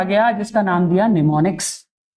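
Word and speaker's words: mnemonics: अब हमने क्या किया कि इसके लिए हमारे पास एक नया वर्ड्स आ गया जिसका नाम दिया निमोनिक्स। आप ध्यान रखिए निमोनिक्स जिसकी स्पेलिंग एम से स्टार्ट होती है।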